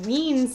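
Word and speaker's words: Wein: when i went to an elizabeth wiens signing that's how you say her name i learned and i also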